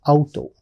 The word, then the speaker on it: Auto: Like auto, that's how we pronounce it. But in German, we pronounce it as Auto.